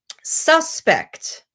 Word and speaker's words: suspect: The same with suspect. If the stress is on the first syllable, it's the noun, suspect. Suspect, that's the verb.